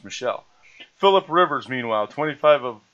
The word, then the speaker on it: Michel: Last name is pronounced Michel.